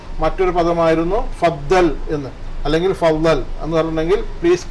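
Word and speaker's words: فضل: എന്നൊക്കെ ധ്വനിപ്പിക്കുന്ന പദമാണ് ഫളൽ ഫദൽ എന്ന് നമ്മൾ മലയാളത്തിൽ എഴുതുമ്പോൾ ഫളദൽ എന്ന് പറയും അറബിയിൽ ള എന്ന പദം നമ്മൾ പിന്നെ മലയാളത്തിൽ ഇല്ലാത്തതുകൊണ്ട് അറബിയിൽ അത് ശരിക്കും അതിന്റെ ഉച്ചാരണം ഫളൽ എന്നാണ് ഫളൽ ഓക്കേ പിന്നീട് നമ്മൾ പഠിച്ചത്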